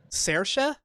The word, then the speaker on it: Saoirse: How do you say it? Saoirse.